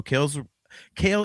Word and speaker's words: Cael: So Kale is releasing new music. And for any of our audio viewers, Kale McLeish is spelled Cael.